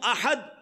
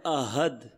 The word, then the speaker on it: احد: تلفظ قل هو اللہ احد، کہو کہ اللہ ایک ہے، احد ایک ہے. لیکن اگر احد کی جگہ کوئی پڑھتا ہے احد، ہا کی جگہ ہا، بہت تھوڑا سا ہی